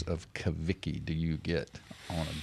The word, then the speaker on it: Cavicchi: Malcolm White, Carol Palmer, Kaviki, and Derek Emerson. how many different pronunciations of Kaviki do you get on a daily basis?